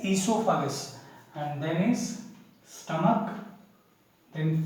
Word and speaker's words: esophagus: O is silent here, and that's why we are pronouncing it as esophagus.